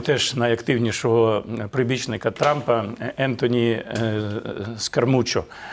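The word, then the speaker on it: Scaramucci: найактивнішого прибічника трампа Ентоні скармучо це скармучо вірніше так правильно його вимовляти його ім'я це колишній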